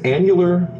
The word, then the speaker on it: annular: Annular.